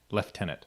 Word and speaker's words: lieutenant: yeah they can be a little funny about pronouncing things lieutenant Lester leftenant that's how they say no no but I'm like like the city Lester yeah yeah like Chester hi to mr.